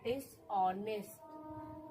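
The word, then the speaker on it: dishonest: और यहां देखिए डी को ड पढ़ेंगे। आई को इ पढ़ेंगे। एस को स पढ़ेंगे। दिस और एच आपका साइलेंट है। यानी एच को बोलना नहीं है।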